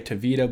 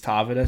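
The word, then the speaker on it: Tavita: said to pronounce it I know some people say toida but apparently he says it's tavida so I'll just say that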